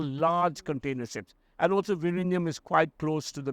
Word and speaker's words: Vizhinjam: about this port coming up in Kerala called Vizhinjam. It's difficult for non-Malayali to pronounce it. ZH. It's written with a J, but it's Vizhinjam actually.